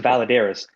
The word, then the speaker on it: Valadares: It's pronounced Valadares.